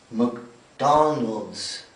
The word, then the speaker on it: McDonald's: مو ماك، لا ماكدونالدز، لأن حرف الام بعده سي. السي ننطقه ك، ما في بينهم أي حرف عشان تمد. على طول ماكدونالدز. McDonald's.